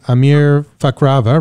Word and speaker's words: امیر فخرآور: have a special guest here with me today Amir fakrava right am I pronouncing that right that's right right Amir a